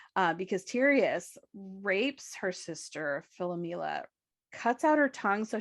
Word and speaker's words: Philomela: But she misses her sister Philomela, which is often misspelled as Philomena, but it's Philomela.